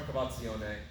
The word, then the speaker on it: cavazione: want to see from our cavazione is just that syllable that i'm emphasizing the v right when he extends